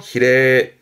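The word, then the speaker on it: 比例: 발음 그래서 히레.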